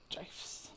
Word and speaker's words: GIF: We get GIFs. GIFs. I'm glad you pronounced it correctly.